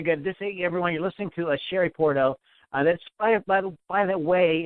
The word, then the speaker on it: Shari Puorto: Everyone, you're listening to Shari Puorto. That's by the way, it's spelled SHARIPUORTO, and her latest album is My Obsession.